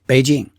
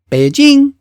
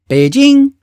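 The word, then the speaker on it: 北京: I mean, that's how Americans say it, Beijing. But in Mandarin Chinese, it's correctly pronounced Beijing. Beijing. Do you hear that? It's two separate pitches, a low one and a high one.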